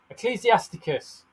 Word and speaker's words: Ecclesiasticus: It's Ecclesiasticus. Ecclesia. Yeah. Ecclesiasticus.